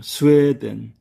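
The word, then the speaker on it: スウェーデン: 스웨덴. 여기도 장음 부호가 들어가 있네요. 스웨덴. 북구라파의 나라 스웨덴입니다. 사회복지가 잘 되어 있다고 하는 그 나라 스웨덴입니다. 스웨덴 장음부호가 들어가 있습니다.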